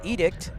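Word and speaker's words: EDCT: day Aviation News segment word of the day today is called edict or is edict stands for expected departure clearance time deals with ground delays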